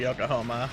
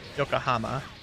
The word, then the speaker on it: Yokohama: because then i can go visit gundam factory yokohoma yokohoma wow what a pronunciation there roomba good job yokohama especially since the osaka job doesn't require me